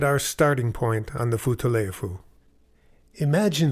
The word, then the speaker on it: Futaleufú: Virtually no one had ever heard of the far-off blue river with the melodic name pronounced Futaleufu.